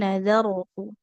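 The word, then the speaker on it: نظرت: Inni nazarotu, nazaro, tebal. Nazarotu karena ro sukun didahului oleh huruf zal yang berharokat fathah, maka ini dibacanya tebal. Tapi kalau huruf sebelumnya berharokat kasroh, maka itu kita bacanya tipis saja ya.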